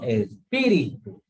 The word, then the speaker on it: espíritu: Por ejemplo, espíritu tiene acento en la I, ¿no?